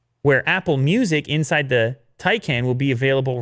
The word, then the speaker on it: Taycan: Taycan, Will. We got one of these on the way, so I better get the pronunciation right.